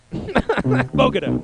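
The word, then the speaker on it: Bogata: How do they say it in Texas? Bogota. That's how they say it in Peru. But in Texas, it's Bogota. Bogota.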